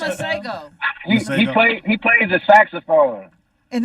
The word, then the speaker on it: Masego: know how to pronounce his name. Maciego, Maciego. Miguel. Oh, no. No, it's not Miguel. No. McDonald's? It's Masego.